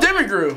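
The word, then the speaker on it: Demiurge: help me out oh no the demon oh demi group thank you thank you gotcha ain't gonna want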